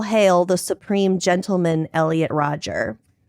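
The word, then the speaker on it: Rodger: Roger, not Rogers.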